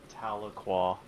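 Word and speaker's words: Tahlequah: It's the one It's that cell that's just south of Taloqua. And that's how you pronounce that. Taloqua.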